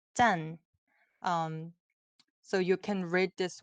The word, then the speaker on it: 짠: So it has the 짠, 짠.